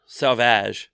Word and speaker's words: Sauvage: Sauvage? Oh, Sauvage. Okay. Sauvage. Sauvage. Sorry, I hate pronouncing people's last names.